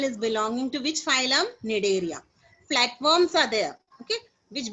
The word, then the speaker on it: Cnidaria: C is silent there. Cnidaria. So what you will call it as Cnidaria, right?